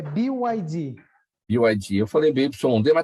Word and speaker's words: BYD: Henrique, eu acabei não checando com você, qual que é a pronúncia do nome da sua empresa? É BYD.